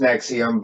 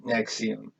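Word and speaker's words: NXIVM: It actually the name's pronounced Nexium, but it's NXVIM. It's Roman numerals, but when you say it, it's like Nexium, and it, I believe,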